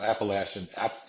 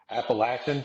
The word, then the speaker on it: Appalachian: different hike in the Appalachian Trail Appalachian appalachin say it right or I'll throw an Apple at you but uh you know